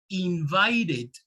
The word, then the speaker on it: invited: use the it sound now be very careful because for example invite invite ends with an e but what is the last sound leslie right so that in that case it also applies invited right because the last sound that you hear is the sound invite uh teacher uh about